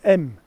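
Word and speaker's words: Exmes: coming from kovico church now this road behind me coming through santo is actually roman road that comes from bayer it goes through view it's on the way to m which is about e-x-m-e-s-x-miss pronounce m now we're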